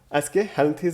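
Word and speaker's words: Aschelminthes: ठीक है, सॉरी, एस्केहेल्मिंथ्स बोला जाता है।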